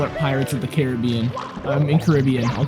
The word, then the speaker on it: Caribbean: I mean, Caribbean? Uh-oh. Commentator starting a fight. I don't say it Caribbean because people who say it like that need to go get their brains checked.